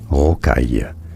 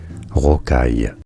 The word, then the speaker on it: rocaille: For reference, in French, this is said as rocaille, rocaille.